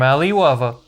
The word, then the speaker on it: Alliwava: here we have another from Ali wava rhymes with Ali Babba M&M eat your heart